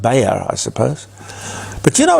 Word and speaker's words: Bayer: at the German company buyer or probably better pronounced Bayer I suppose but you